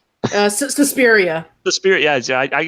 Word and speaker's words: Suspiria: this so they know they'll ruin it not Supriya Suspiria the spirit yeah yeah I read I know I can pronounce offical pronounced afect I know words I